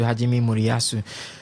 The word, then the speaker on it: Hajime Moriyasu: We saw They came against came against Netherlands and their coach again too, Hajime Moriyasu. I have to say You pronounced that so so well, Ovie.